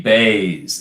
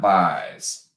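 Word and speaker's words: Buys: we go shelby jp bays it's bays not byes why is it spelled byes and pronounced bass i don't understand that you ruined me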